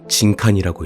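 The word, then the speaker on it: 人間: 인간? 아니야. 이건 진칸이라고 읽어. 이걸 지금부터 죽이는 거야.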